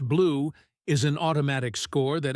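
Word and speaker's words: BLEU: BL EU pronounced blue is an automatic score that estimates how close a machine translation is to a human one.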